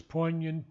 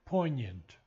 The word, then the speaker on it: poignant: The only word that needs a little understanding is poignant, and many people pronounce the G, but the G is silent.